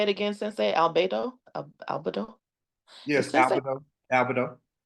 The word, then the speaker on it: albedo: Albedo?